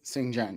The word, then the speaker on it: Xinjiang: that have been to this is xinjiang am I saying it right xinjiang yeah um on quote